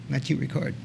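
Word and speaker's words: Matthieu Ricard: Matthew Ricard.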